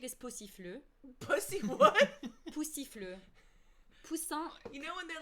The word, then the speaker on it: poussin: Poussin.